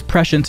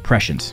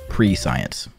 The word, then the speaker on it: prescience: with the offensive cooldowns of your allies use prescience on cooldown to keep two allies buffed this can be manually targeted or you can let the AI apply it to nearby DPS and yes it's pronounced prescience not pre-science prescience you want to keep blistering